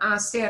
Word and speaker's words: hacer: That hacer and hacer should sound exactly the same, right? That H we don't pronounce.